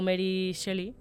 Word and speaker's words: Mary Shelley: Entre 1500 y 1600 ese viaje ya se había intentado, pero Mary Shelley, se pronuncia así, sí.